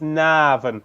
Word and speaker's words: Navan: So all you've got to do is put in as many A's between the N and the V as you can. So it's Navan.